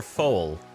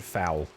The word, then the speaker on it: foal: How do you say it, fowl or foal? Foal. It's foal. Okay. For some reason, I think I've always said fowl, because it just seems like a dumb word.